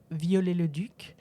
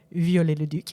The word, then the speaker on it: Viollet-le-Duc: His name is Eugène Emmanuel Viollet-le-Duc, or let's try to pronounce it American-ish. Eugene Emmanuel Viollet-le-Duc.